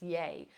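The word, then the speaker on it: yei: at the very end it's yay it's y-e-i most of the time it's spelled and it basically means dear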